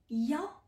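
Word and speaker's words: 幺: Attention, il y a une exception pour le chiffre 1. On peut le prononcer aussi yao quand on parlait d'un numéro.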